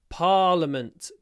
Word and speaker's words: Parliament: one this is our Parliament building parament there is an unnecessary letter i in there but we say parament let's do my little